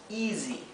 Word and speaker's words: easy: una vocal en inglés la s se pronuncia como una S como un zumbido bien Por eso lo